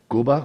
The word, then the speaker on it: Cuba: any good look at Cuba uh I believe it's pronounced Kuba it's Kuba oh look at the